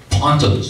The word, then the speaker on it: pontoon: Pontons, I found out they were spelled pontoon, but they were pronounced ponton.